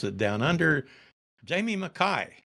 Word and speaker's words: Mackay: as I like to hear the way you pronounce it down under Jamie McKai right absolutely Marlon maai not McKay uh yeah Scottish to sent so you've got